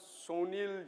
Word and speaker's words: Sunil: There's a guy called Sunil Yu, and he is not an Indian guy. He, by the way, pronounces his name as Sunil, and I asked him, like, why do you call yourself Sunil?